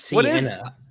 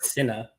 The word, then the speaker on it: Sienna: It's Sienna. Not Cinna.